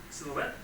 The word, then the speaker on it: silhouette: Sorry, Andrew, how to pronounce this correctly? Silhouette.